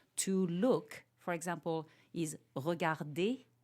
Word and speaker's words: regarder: And so people think that this ER is pronounced, and it's not.